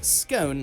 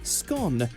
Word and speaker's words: scone: the Republic of Ireland you'll also hear scone like tone and then some butter that's been rubbed in why do you mix two flowers I just think it gives a bit of a lighter scone I really really do but Northern Ireland Northern England Wales and Scotland all usually use the shorter scone people will still understand